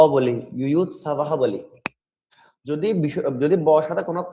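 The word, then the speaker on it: যুযুৎসবঃ: যেমন প্রথম অধ্যায়ে প্রথম শ্লোকে প্রথম ছত্রের লাইনের শেষে রয়েছে ইউয়ুৎ সাবাহ, ইউয়ুৎ সাবাহ, অর্থাৎ বর পরে বিসর্গ রয়েছে। তাহলে এই বিসর্গের জন্য আমরা হ উচ্চারণ করি।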